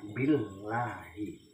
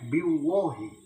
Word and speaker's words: billahi: Nah, jadi tetapi juga perlu diperhatikan ketika diawali dengan preposition atau huruf isyarah ya, yang berharokat kasar seperti sumpah, jadinya billahi kan gitu, anillahi, billahi. Itu kalau ada yang bacanya biwahi, liwahi, itu berarti agamanya beda.